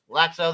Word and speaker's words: Laxo: Is it Laxo is how they said it. LAA. So I'm guessing the long A.